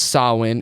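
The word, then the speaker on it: Samhain: So average American would look that be like sain s but it's pronounced sawin in Ireland and some other ancient festivals too.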